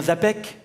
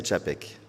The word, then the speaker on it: Czapek: C'est bien Zapec? C'est Tchapek. Tchapek, voilà.